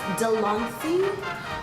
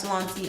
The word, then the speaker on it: De'Lanci: And today we are going to be talking about the, I believe it's pronounced Delancey Heartquake palette.